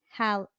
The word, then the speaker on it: Halle: Or is it Haley or Halle? I think it's Halle. Well, it's spelled Halle. Halle.